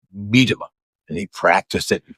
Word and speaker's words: Medema: pronounce my name correctly, a lot of people pronounce it wrong. Uh Medima or Mima or whatever. And I was several years ago, I was on this TV program, one of these Christian TV programs back in the 70s. And uh the guy who was the host said, "Now I want to make sure I pronounce Ken's name right." And my manager said, "It's Medima."